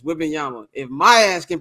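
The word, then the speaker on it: Wembanyama: like you don't know how to pronounce a name is whing Yama if my ass can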